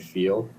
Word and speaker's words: Feal: I said, "Feal."